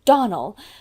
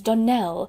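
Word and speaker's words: Donnell: you pronounced our name Donald now Miss Shirley the correct pronunciation of our name is Danelle Accent on the last syllable I hope you'll remember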